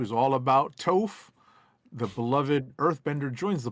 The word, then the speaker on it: Toph: What am I mispronouncing? It's Toph. Toph.